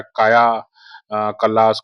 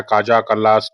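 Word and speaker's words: Kaja Kallas: Estonia की जो वर्तमान प्रधानमंत्री हैं काजा कल्लास, इनका इनका जो उच्चारण है अलग-अलग तरीके से होता है। कोई कहता है काया कल्लास, कोई कहता है काजा कल्लास, जो भी है ना?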